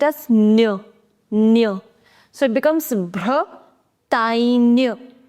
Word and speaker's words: Bretagne: whenever you have GN in French, you pronounce it as near. So it becomes Bretagne. Bretagne.